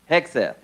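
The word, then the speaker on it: Hegseth: Hexf.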